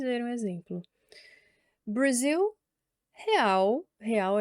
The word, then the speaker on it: real: Brazil Real, real é o nome da moeda mesmo, então eu vou falar real como se fala no português mesmo, tá?